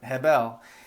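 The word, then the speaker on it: הֶבֶל: Hebrew scholar I'm sorry is habel I've also heard itvel but I don't see the V there so um and I don't see that when I look up how to pronounce it but Hebel and yes it is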